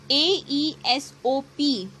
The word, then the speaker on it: Aesop: Okay, A Bell for the Cat is an Aesop fable. A-E-S-O-P. This is pronounced as Aesop.